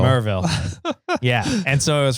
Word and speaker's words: Maryville: It's not pronounced Maryville. No, they don't pronounce the Y. Yeah. I don't know why. It's spelled that's what Maryville, they don't do. But it's pronounced Merville. Merville.